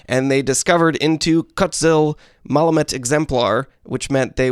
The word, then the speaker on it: Kutzil: I can see here from this helpful Lost Caverns of Ixalan pronunciations image I got off Twitter that card is pronounced Kutzil.